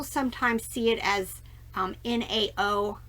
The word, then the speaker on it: Nao: see it as um nao i think it's pronounced now it's just part of